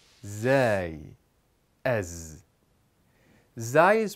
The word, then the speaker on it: ز: The next letter is Zai. Zai makes a Z sound. Z like the word zauj, which means spouse, or the word zujaj, which means glass. Let's say it together. Z, zai, ez.